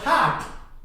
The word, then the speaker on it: heart: रे की साउंड आएगी ही नहीं इनमें, ये रे की साउंड नहीं आएगी किसी भी में। जहां जहां पे भी आर के बाद व्यंजन आ रहा है वहां व्यंजन की ध्वनि से पहले यदि आर है तो आर की साउंड नहीं आएगी, हार्ट।